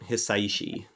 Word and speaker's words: Hisaishi: Hisaishi.